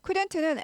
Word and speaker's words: couldn't: couldn't는 L이 묵음이에요. couldn't 하지 않죠. L이 발음이 아예 안 나요. 사전에서 발음하지 마라고 써 있습니다. 그래서 couldn't 아니고 couldn't L 발음 나지 않습니다.